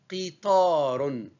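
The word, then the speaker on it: قطار: Attention à la transcription, ce n'est pas qui, c'est plutôt qi. Qi. Et forcez-vous de prononcer qa. Qa. Ou cri, ce n'est pas kakuki, c'est qa, qa, qitarun, qitarun.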